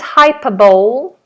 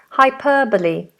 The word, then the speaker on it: hyperbole: that is commonly mispronounced this isn't hyperball hyperball this is hyper hyperbole hybo hyperbole hyperbole okay oh